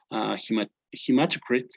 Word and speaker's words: hematocrit: You always get your hematocrit, that is how it's pronounced, and the hemoglobin.